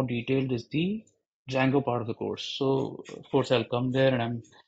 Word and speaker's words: Django: And if somebody is thinking why I'm calling it as Django and not Django, D is silent. And Django is a very, very famous framework.